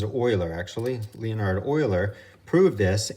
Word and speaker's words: Euler: an issue rounding up Swiss mathematician Leonardo Euler that's pronounces oiler actually Leonardo Euler proved